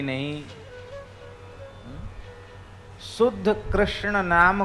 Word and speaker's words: कृष्ण: पर मंत्र में आपका ऐसे नहीं चलेगा कि कृष्ण को किसना कह दो, ये मंत्र में नहीं चलेगा।